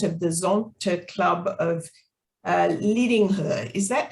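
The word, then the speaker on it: Lidingö: Pia joined Zonta in 2001 and is currently the president of the Zonta Club of Lidingo. Is that how you pronounce it, Pia? Yes, about so, Lidingo.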